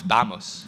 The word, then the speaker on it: vamos: you're French yes but I know how you pronounce bamos okay bamos bamos how about stop talking